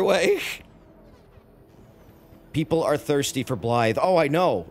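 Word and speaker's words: Blaidd: weird in the pronunciation it's not normal um english it's it's it's welsh so you would uh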